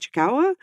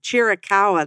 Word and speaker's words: Chiricahua: I think it's how you say it, Chikawa. But they have these locations. Chiricahua, that's what it's called, see?